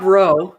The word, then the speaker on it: Rowe: It's Rob Rowe with Rob Sentinel Rowe. Apologetics. And so I'll put you guys in touch. Like Rob Lowe, the actor. Yeah, exactly. It rhymes with Lowe.